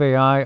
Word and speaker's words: Ai: So Joshua burned this town called Ai, and it's spelled AI.